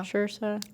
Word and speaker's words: Saoirse: You said Saoirse? it was you said it was like inertia. So inertia. Yeah. Saoirse.